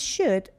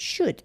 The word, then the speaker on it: should: Like the first word is should, L is not pronounced, so L is silent. And so you pronounce it should, not should.